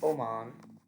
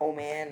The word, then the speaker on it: Oman: Yes, you pronounce it Oman. Not Oman or Oman.